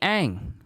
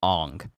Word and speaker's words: Aang: name and aang says the monks named me ang well we all know in the film he's they call him aung i'm just gonna ignore that i'm gonna i'm gonna ignore the incorrect pronunciation of these character names the monks named me